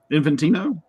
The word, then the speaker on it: Infantino: Infantino?